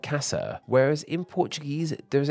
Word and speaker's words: casa: the same way but in Spanish both A's in this word are said the same way and the word is pronounced like Casa whereas in Portuguese there